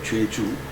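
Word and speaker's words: 좨주: 죄주. 그 오하고 아이를 씁니다. 한자로는 제사 지낼 때 제자예요. 제사 제자를 쓰고 술주자를 씁니다. 근데 읽을 때는 우리가 전통적으로 읽을 때는 죄주라고 읽어왔어요. 왜 그런지 난 이해가 안 갑니다.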